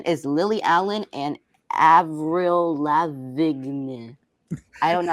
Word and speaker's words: Lavigne: Anne Boleyn is Lily Allen and Avril Lavigne. I don't know. how to pronounce Avril that.